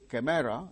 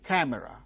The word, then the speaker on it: camera: open camera no camera it's not camera it is camera the initial syllable camera camera three syllables are there the initial syllable gains stress that is it is uttered with greater force camera because it is C C Sound occurring at the word initial stressed position it is aspirated like C camera second syllable is